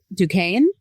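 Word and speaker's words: Duquesne: The dou and if you're not familiar has an S and a Q and a U and another S that are not like pronounced at all.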